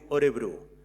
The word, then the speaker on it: Örebro: Terrassa està agermanada amb un municipi de Suècia que es diu Örebro. Va costar bastant pronunciar Örebro d'aquesta manera, Örebro.